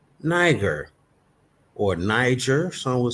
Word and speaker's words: Niger: Right there, 3526, which is Niger, pronounced Niger, sounds familiar, of Latin origin.